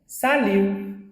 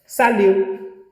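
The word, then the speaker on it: salut: साल्यू, टी नहीं read होगा, साल्यू।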